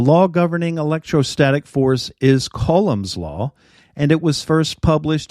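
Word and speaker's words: Coulomb's law: all to go down colums law or I think it's actually pronounced colum's law uh published way back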